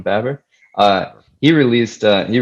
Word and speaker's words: Baber: out is roman baber i believe uh you pronounce his last name roman babber uh he released uh